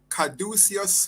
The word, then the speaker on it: Caduceus: Could you pronounce that name, please? Caduceus Limited. All right, Caduceus, and that's what takes place there?